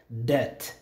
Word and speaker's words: debt: Debt, debt. Bangigi marka lacag soo qaatay oo kala deyn lacagtaas bangigi uu kuu leeyahay waa debt. Debt maxaa waay marka waa deyn waay. Okay, debt, the be is silent.